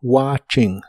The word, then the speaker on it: watching: watching que significa viendo la t de esta palabra no se pronuncia solo watching watching y usaremos el verbo